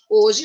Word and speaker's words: hoje: língua a gente, hoje, se eu escrever hoje sem o H, porque a gente não fala o H é mudo, nosso H é mudo, right?